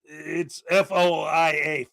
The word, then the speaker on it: FOIA: But yeah, it's FOIA, FOIA. And a lot of people make fun of the way a lot of them pronounce it. Yeah, like foil, like aluminum foil, like FOIA request and stuff like that.